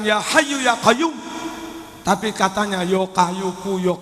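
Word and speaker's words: يا حي يا قيوم: Orang awam kadang membacanya ya kayu ya kayumu, ya kayu ya kayumu, nggak bisa fasih. Katanya orang kuno dulu kalau wirid bukan ya hayu ya kayum, tapi katanya yo kayuku yo kayumu, yo kayuku yo kayumu.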